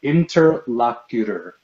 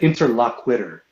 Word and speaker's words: interlocutor: It's pronounced interlocutor. Interlocutor. What are you talking about? You said interlockwitter.